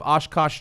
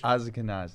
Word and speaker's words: Ashkenazi: Find out if you have Oshkosh Jewish in you. Is it Oshkosh? How do you say that Jewish? Ashkenazi.